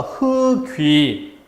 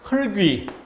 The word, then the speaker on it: 흙위: 그러니까 일단 절음해서 리을 기역의 대표음 흙 원래 한 글자인 것처럼 발음해보면 기역의 대표음이 되는 거 알 수 있죠. 그리고 넘어가니까 흙위 이렇게 되는 것이지. 만약에 이것을 흙위 이렇게 발음한다면 이건 뭐예요? 뒤에 것을 위에 것처럼 형식 형태소로 간주한 잘못이죠.